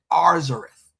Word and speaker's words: Arzareth: The writer in the 1st century combined both books, both words, and made it and pronounced it Arzareth.